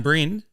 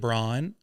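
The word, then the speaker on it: Bryn: It's Welsh. And for those that are listening out there, it's Welsh. Yeah, it's spelled B R Y N. So very unusual. So I get Brian a lot.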